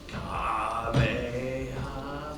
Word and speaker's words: Kamehameha: The original Japanese was like equal emphasis on all the syllables. It was like Kamehameha, and you know the rest.